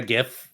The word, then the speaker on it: GIF: You pronounce the G not like a J. It's a G. Pronounce it like a G.